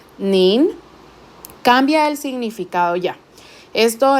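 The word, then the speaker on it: 您: Acá este es el segundo tono, mientras que en la diapositiva anterior era tercer tono. Entonces, estas pequeñas diferencias, tanto en el tono como el hecho de que tenemos una N al final, nin, cambia el significado ya.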